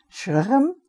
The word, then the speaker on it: Shechem: Shechem, I think in English we say Shechem. It's Shechem. That's the way we pronounce it in Hebrew.